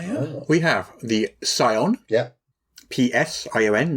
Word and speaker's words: Psion: We have the Scion. Yeah. P-S-I-O-N, not S-C-I-O-n. But Poseidon. The Scientist, as it is correctly pronounced, the Scientist.